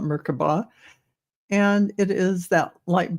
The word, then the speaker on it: Merkaba: This is a Merkaba or Merkaba. Some people pronounce it. I call it Merkaba.